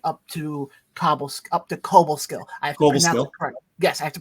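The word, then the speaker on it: Cobleskill: up to Schenectady up to Cobblestone up to Cobo skill yes I have to pronounce it correctly I got chewed out last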